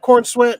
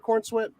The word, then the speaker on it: Corenswet: Corenswet.